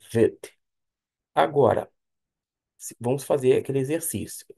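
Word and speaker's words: בית: Observe que não tem um pontinho dentro, o chamado da Gig, não tem esse pontinho dentro o som de V, porque a letra chama-se Vet.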